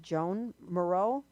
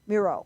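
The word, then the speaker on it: Miró: How do you pronounce it? Jean Moreau? Jean Moreau? Bureau, Yeah. yeah. Miro.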